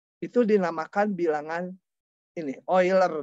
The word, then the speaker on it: Euler: itu dinamakan bilangan ini oiler bacanya olr kau Indonesia mungkin heuler nge-rap Saya mau lihat